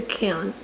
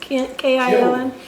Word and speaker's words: kiln: but the sunlight poured in through an open window and lit up the entrance to the kiln. How do you say it, John? K-I-L-N? Kiln?